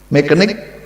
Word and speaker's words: mechanic: is read like mechanic mechanic c and h but it is red k maker mechanic not mechanic